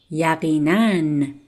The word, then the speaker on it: یقیناً: And as I said before, when you see this symbol above the letter alif, you have to pronounce it like n.